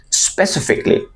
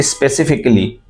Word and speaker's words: specifically: Say specifically, specifically, never say specifically, right? So he asked specifically for you, এখানে আর এর উচ্চারণটা হবে না, for you, he asked specifically for you, he asked specifically for you.